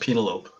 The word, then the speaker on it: Penelope: And because you're in Club Dread, you know it's supposed to be pronounced Penelope.